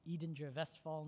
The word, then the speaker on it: Edinger-Westphal: pretectal nuclei to the, I'll pronounce it as Dr. Trobe did, Edinger-Westphal nuclei, not the English way of presenting it.